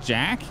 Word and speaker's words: Jacque: j-a-c-q-u-e q yes you you said jack jack but there's a q yes is that blow